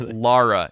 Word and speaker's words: Lara: Raider Laura Croft right crystal Dynamics says that it's Laura Croft actually like L A that makes sense of the spelling I guess but yeah like Lara yeah and if you notice in the game they say Lara all the time all right and uh